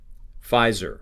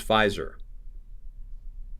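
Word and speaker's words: Pfizer: r um so he he could easily pronounce it fizer fizer that's how you pronounce fizer okay fizer fisa very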